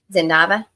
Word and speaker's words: Zava: you to many questions Zava okay so it is the z sound instead of the S sound just checking I don't